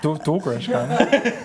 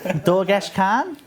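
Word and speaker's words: Dorgesh-Kaan: Dorgresh, can. Dorgesh Khan. Oh, that's better.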